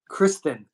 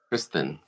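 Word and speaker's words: Cristhin: not need a geez a Christian spelled like it was said with a lisp C Kristen Kristen c r i s t h i n and another Yankee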